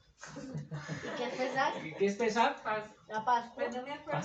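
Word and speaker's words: Pesaj: Pesach. Así se escribe el nombre hebreo.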